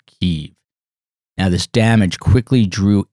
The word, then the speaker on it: Kyiv: a brutal onslaught of Kyiv, Ukraine's capital, which used to be Kiev, but that is the Russian pronunciation, so now the entire world is pronouncing it Kyiv.